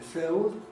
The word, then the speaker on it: field: Words like field, that's an old-fashioned pronunciation, field. Nowadays you usually get field, or very commonly filled.